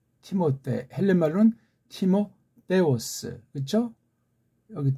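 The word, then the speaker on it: Τιμόθεος: 우리 디모데가 이게 우리 보면은 이제 그 미국 발음으로 뭐 티모테 그럽니까? 예. 티모데 헬렌 말로는 티모데오스 그렇죠?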